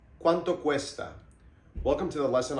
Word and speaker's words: cuánto: Do that harsh D sound with your tongue in between your teeth.